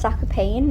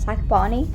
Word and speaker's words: Zakopane: found out that it's actually supposed to be pronounced zac payne not zac barney but anyway he is also on the bus